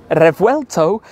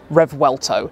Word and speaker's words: Revuelto: Lamborghini and in fact in Spanish the V is pronounced a little bit more like a b kind of RTO in Italian it is revuelto and in English apologies for the butchering of the pronunciation of this it is Rev welto it's always interesting to